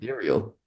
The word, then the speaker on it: Ethereal: Is it Ethereal?